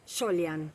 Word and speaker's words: Soljan: ¿cómo es la pronunciación? Solian. Ahí estamos. Y bueno, el tema es que los de migración escribieron la I cuando en realidad debían haber escrito la J, ¿no?